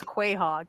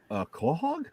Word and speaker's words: quahog: And so I read it as Quahog. And let me tell you, they lost their goddamn minds. Oh my God, I lost my shit. I was like, you mean Quahog?